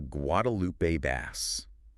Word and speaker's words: Guadalupe bass: The headliner is the Guadalupe bass. And remember the pronunciation guide. Wadupoo. You got it. And bass rhymes with class.